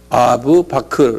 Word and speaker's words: 아부 바크르: 그래서 1대 후계자가, 제 1대 후계자가 아부 BAKR이 아부 바크르. 한번 발음해 보세요.